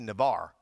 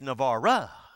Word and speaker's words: Navarre: we're going to navara my daughter gets on to me every time i say navarro because he said dad you say it wrong you're supposed to be navarre i said it's not navarre anybody can say navarre it's navarro so now when i